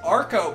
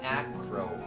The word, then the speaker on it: Acro: I always call it the Arco bike. Even though that's not how it's spelled, but it took me 4 fucking ever to realize that because it's an acrobatic bike, it's called the Acro bike.